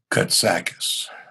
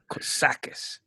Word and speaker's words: Kotsakis: how do you say your last name good Sakas Sakas just agree one of those Greek that's sound